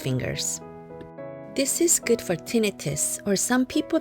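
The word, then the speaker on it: tinnitus: with your index fingers this is good for tinius or some people pronounce it tentis and headaches when you maintain a healthy body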